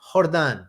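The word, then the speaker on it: Jordan: this guy no no it's a j and you pronounce it like Spanish so how would you hordan hordon hordan no this guy this guy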